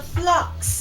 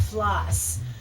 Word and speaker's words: phlox: friend the floor the flocks and it is flocks not floss because I thought oh it's spelled p h l o x it's probably floss I mean flocks it seems too obvious but anyhow thank you